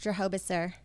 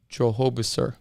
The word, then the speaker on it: Drohobyczer: you pronounce your name my last name is pronounced Jehovah sir Jehovah sir yes so I go by locally at